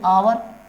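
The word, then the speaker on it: hour: spelling क्या है आवर, हावर तो पढ़ेंगे नहीं, क्या पढ़ेंगे आवर, तो आ, ये क्या है वोकल साउंड, अगर आप हावर पढ़ेंगे तो गलत हो जाएगा ना, तो कॉन्सोनेंट हो जाएगा,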